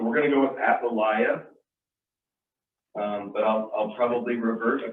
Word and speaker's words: Athaliah: So our story today is about, I thought it was Athaliah, but Dewey pronounced it Athaliah. Does that sound right? Athaliah? So we're going to go with Athaliah, but I'll probably revert a few times, so just bear with me.